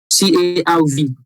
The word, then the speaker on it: CARV: Yeah, because it's spelled CARV, not E. The E is not there. CARV.